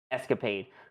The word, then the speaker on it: ESCAPADE: Oh wait, I guess it's just regular pronounced Escapade for NASA.